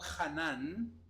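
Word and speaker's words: חנן: Más bien hay otro que se pronuncia algo así como Hanan, que significa, y atienda bien a esto, doblarse o inclinarse ante un inferior.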